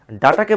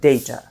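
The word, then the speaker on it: data: আবার ডাটাকে বলি ডাটা। কিন্তু এর সঠিক উচ্চারণ হবে ডেইটা।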